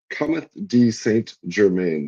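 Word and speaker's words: Comte de Saint-Germain: Cometh de Saint Germain. That is the French pronunciation.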